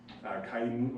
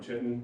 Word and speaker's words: chitin: So all mushrooms or cell walls are made of chitin or chitin, depends on how you pronounce it.